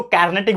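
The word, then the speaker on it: Carnatic: लड़ी गई थी उसको कार्नेटिक वॉर्स कहा जाता है क्या कौन सा लड़ाई कर्नाटिक कार्नेटिक बोल लो कार्नेटिक बोल लो जो आपको बोलना है बोल लो लेकिन स्पेलिंग याद रखना है कार्नेटिक वॉर जो है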